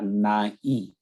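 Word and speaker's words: नाईं: नहीं कहूँगा सभी लोग, नाई को नाई ही पढ़ते हैं। वो गलत उच्चारण है, उसका अर्थ भी गलत है। अगर नाई ई के ऊपर अगर बिंदी है तो नाई नेजल साउंड है, नाक में हमें पढ़ना नाई।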